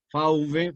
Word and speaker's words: fauve: Fauve, fauve, pronunciado en francés, significa fiera.